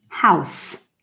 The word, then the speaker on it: house: It's not a Z, it's an S. House. Yeah. This one you probably didn't know, did you? Because for some reason, Brazilian people think it's house, but it's house. It sounds like an S, literally. House. House. Important. House. S, okay? Not Z. S.